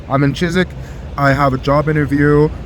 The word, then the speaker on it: Chiswick: I am in Chiswick, which is No, I said it wrong. It's Chisik. You don't say the W. Don't say the W. I'm in Chisik.